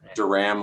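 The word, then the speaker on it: Duran: It's Duram, like the 80s band, Duram.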